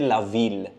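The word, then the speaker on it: Lille: so that's an exception lail we don't say la we say lail so that will be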